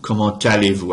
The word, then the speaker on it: comment allez-vous: Comment allez-vous? I'm pronouncing a T that otherwise isn't pronounced right there because I'm linking the final consonant in the T of comment allez-vous right there.